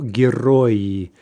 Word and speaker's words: герои: And also, when we change the kratka to an E, we're adding an extra syllable, right? So we go from two syllables, герой, to three syllables, герои, right?